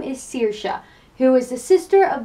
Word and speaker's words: Saoirse: spelled sa o IR as E but it's pronounced Saoirse and is Irish Gaelic for freedom and it